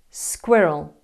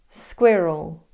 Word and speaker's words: squirrel: Squirrel. Squi, like squid. Roll. Squirrel.